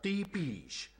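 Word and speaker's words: Tepes: Se pronuncia Tepish.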